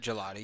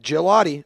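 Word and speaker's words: Gillotte: I watched three Louisville games this year and they all pronounced it Gelotti. I watched three Yep. Gelotti.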